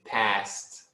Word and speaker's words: past: But if you do say 5:30, okay, you want to pronounce the S in past. 5:5. 5:5. And the A in past sounds like apple.